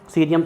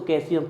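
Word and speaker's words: caesium: कई लोग इसको कैल्शियम पढ़ते हैं, गलत है वो, बोल दो, हमें कोई फर्क नहीं पड़ता, सिंबल याद होना चाहिए।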